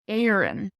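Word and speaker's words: Éirinn: now another word for Ireland in Irish is Aaron Aaron Aaron Aaron and again check Opera Dasha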